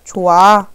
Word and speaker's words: 좋아: 좋아라고 했을 때 발음할 때 우리 좋아 이렇게 발음하죠. 뭐 없어졌어요? 히읗이 탈락했죠.